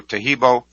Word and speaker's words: Taheebo: webpage simply search for teibo which is spelled t ah e e be like boy o so the complete spelling